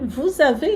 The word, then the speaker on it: vous avez: avez une option végétarienne liaison entre vous et avez obligato vous avez une option végétarienne véétari